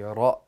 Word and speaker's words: ر: Ra is pronounced by putting the tip of the tongue against the front of the hard palate while rolling out air.